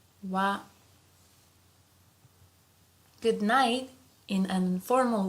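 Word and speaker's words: は: So although here this is hiragana ha but sometimes we pronounce it as wa wa.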